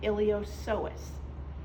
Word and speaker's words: iliopsoas: as one called the iliopsoas okay where the P is silent in that so the iliopsoas consists of the iliacus